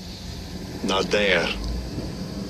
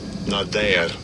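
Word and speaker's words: נָדַר: Give you a pronunciation of that as well. Strong's H 5087. Nader, Nader.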